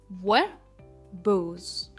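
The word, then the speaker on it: verbose: की तरफ जो है व बज व बोज यह टू सिलेबल वर्ड है और इसमें जो स्ट्रेस है वो बोज पे आता है वबोज वबोस का मतलब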